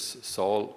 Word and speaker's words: Saul: the first church in a place which we pronounce in english saul saul which uh it's how it comes in english